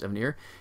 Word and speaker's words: Evanier: been really clear that his name is actual pronounce Evanier he's a conquer write book writer he is